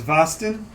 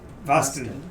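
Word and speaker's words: Vasti: rhymes with Boston. Yes, but it starts with a V. But it's spelled V-A-S-T-I.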